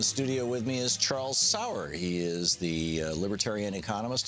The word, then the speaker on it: Sauer: But that's I tell people you pronounce it sweet and sour, but the gun is how you spell it.